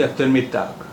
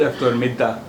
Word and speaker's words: eftermiddag: अब यहाँ भी जी का उच्चारण आप गिया का उच्चारण आप कर भी सकते हैं और नहीं भी कर सकते हैं। तो इसलिए आप इस शब्द को इस तरह भी बोल सकते हैं गुड eftermiddag, गुड eftermiddag या गुड eftermiddag, दोनों ही बोल सकते हैं।